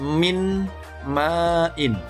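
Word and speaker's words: مِن مَّآءٍ: Kemudian contoh yang kedua di surah At-Tariq ayat 6 tertulis min ma'in. Pembacanya nun sukunnya, bunyi n-nya dihilangkan, kemudian dilebur, dimasukkan ke mim yang disukun. Min ma'in, membacanya mim ma'in, mim ma'in.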